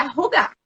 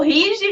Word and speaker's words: hygge: né, o nosso título, a gente está pronunciando da forma correta, que é rugar. Tá? Então, rugar. Então, o Rige virou rugar, né? Na verdade, ele é rugar.